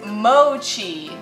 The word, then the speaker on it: mochi: onto google and you google it and it's mochi so I've been saying it right fifty percent